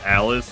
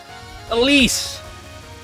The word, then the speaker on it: Elis: I mean, I always said for a while is not pronounced Alice. Yeah. Elise back seat in Tohjo.